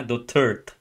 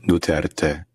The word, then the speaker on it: Duterte: Dutert. Ita-trial mo 'yung tao ni hindi mo mabanggit yung correct na pronunciation ng kanyang apilyedo. Oh my god. Buti pa ong dalawang to. This Duterte.